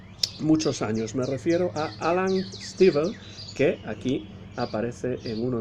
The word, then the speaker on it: Alan Stivell: Le voy a llamar Alan Stivell, aunque supongo que en francés se pronunciaría algo así como Alain Stivell.